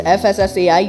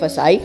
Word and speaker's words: FSSAI: एंड the right answer is FSSAI या फिर फसाई, आप प्रोनाउंसिएशन में दोनों ही कह सकते हैं।